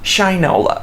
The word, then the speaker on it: Shinola: lot more just like shinola is doing it's pronounced shinola okay well it should all a stupid so